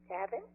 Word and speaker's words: Tavin: TAVIN? Could you call TAVIN? Yes. Okay. Am I pronouncing that right?